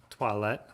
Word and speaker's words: toilette: Toilette. Well, I guess yeah, they do pronounce the T in toilette, which would be a French pronunciation.